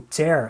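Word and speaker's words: tear: em pedaços esse verbo ter significa rasgar e é curioso também que se eu mudar pronúncia se eu disser tir significa lágrima mas como verbo né ele vai ter a pronúncia mas aberta tenha sou eu disser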